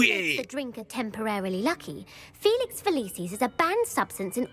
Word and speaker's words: Felix Felicis: I'm going to go with Felixus? That's not even how you say it, is it? I'm just doing this by process of elimination. I really thought I remembered this. Felix Felicis.